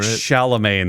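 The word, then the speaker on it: Chalamet: because I always forget how to actually pronounce his last name Timothy shalam right shalaman that's it I always forget every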